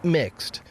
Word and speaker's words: Mx: use the pronoun Mr., instead using MX, pronounced mixed, a title which does not imply a gender.